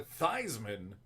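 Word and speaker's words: Theismann: Joe fean in college he switched the pronunciation to thyman because of the Heisman Trophy but traditionally if you ask him it's Joe fean too bad it wasn't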